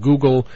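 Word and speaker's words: guggul: an herb from India called Google uh yeah much like uh you know like when you go online you want to search says Google it's just spelled differently it's spelled g u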